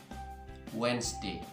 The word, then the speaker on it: Wednesday: selanjutnya kata ini Yap Wednesday Wednesday You are to pronounce Hai RS silence di ini huruf d-nya tidak perlu untuk kita baca nomor dua penyebab kita